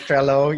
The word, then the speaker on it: Trello: I could mention a lot of things, but when I first started Trello, I don't know how to pronounce that. It's really just It, Trello. it's Trello, yeah.